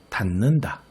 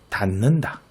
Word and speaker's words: 닿는다: 닿는다. 자, 뒤에 있는 니은이 앞에 디귿에 영향을 줘서 닿는다. 이렇게 발음하게 되네요.